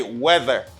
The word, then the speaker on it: weather: So in this word, you have E. Okay, you just say weather. You just pronounce it as E. And here, this TH as a voice TH. You got a voice TH here. You just say weather, weather, weather.